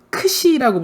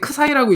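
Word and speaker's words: ξ: 나도 이거 지금까지 크사이라고 읽었거든. 근데 구글에서 찾아보니까 크사이 아닙니다, 크시입니다, 이렇게 하래요. 크시. 크시래요. 자, 여기 써 있잖아. 책에도 써 있어. 크시라고 읽으라고.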